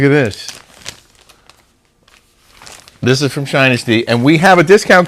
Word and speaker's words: Shinesty: else is really cool what shinesty sounds like Dynasty I didn't know how you said it and they told me it's pronounced shinesty stay weird and shine